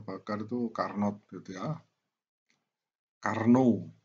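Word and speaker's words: Carnot: itu karnot gitu ya Karno tulisnya karn atau bacanya Karno G ya yang kedua tidaklah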